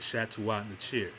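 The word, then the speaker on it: Shetaut Neter: That's how you say it, Shetaut Netcher.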